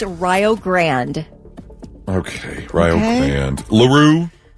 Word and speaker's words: LaRue: LaRue. That is Leroux. Oh, All right, LaRue. I thought it was LaRue.